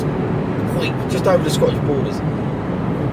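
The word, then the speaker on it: Hawick: And then there was I got a Hoik or Haywick, but it's pronounced Hoik, just over the Scottish borders.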